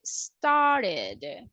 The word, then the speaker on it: started: start we don't say started we can say started in the case of invite we can say invited or we can